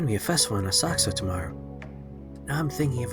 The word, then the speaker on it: Asakusa: be a festival in a saxo tomorrow now i'm thinking of attending it took me a long time to learn how to pronounce that one i always thought it was asakusa it's a saksa i'm thinking of attending